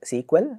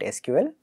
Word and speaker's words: SQL: There are places where this is pronounced SQL. I prefer to call it SQL. It's, as far as I can tell, a matter mostly of choice.